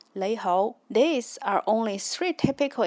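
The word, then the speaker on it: 你好: as nong hao and in Yue Chinese or Cantonese it's pronounced as nei hou.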